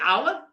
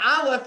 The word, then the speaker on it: Aleph: That's the Aleph? That's a silent letter. And the Rebbe says, no. It's not a silent letter. It's an almost silent letter. An Aleph is taking in breath to begin a conversation.